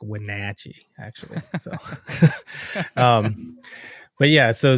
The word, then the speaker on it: Wenatchee: Wenatchee, I think they say it like Wenatchee, actually.